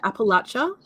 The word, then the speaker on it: Appalachia: of, and you can tell me how to pronounce it. Is it Appalachia?